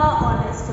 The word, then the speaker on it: honest: I am a honest boy. I am a honest boy. Honest. O L silent है बट ओ की आवाज आ रही है तो I am an honest boy.